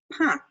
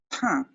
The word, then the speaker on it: pain: Now, it looks like the English word for pain, but we pronounce it pain, pain.